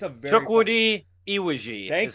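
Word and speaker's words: Chukwudi Iwuji: It's a very Chukwudi Iwiji is how you say it.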